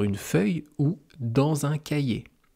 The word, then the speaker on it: cahier: Cahier, ça s'écrit C-A-H-I-E-R. Il faut savoir que le H, on ne le prononce jamais en français si il est seul, si il n'est pas accompagné d'une autre consonne. Donc si le H est la seule consonne avec 2 voyelles de chaque côté, on ne prononce pas le H.